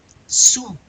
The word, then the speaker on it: sous: You gonna pronounce the S? No. Sous. And sur.